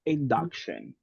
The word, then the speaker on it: induction: sometimes confusing the letter the letter U sometimes is confusing because we have the tendency to pronounce it as in Spanish right we say induction right because that is the Spanish part thinking about the pronunciation